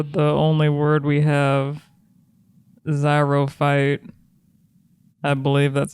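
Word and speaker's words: xerophyte: okay and for the only word we have zyro fight I believe that's how you say it I don't know what this is but I love it or zero fight let her spell it x e r o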